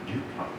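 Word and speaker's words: Lupin: たので、ルパンというのはリュパンでアクセントは後ろの方にあります。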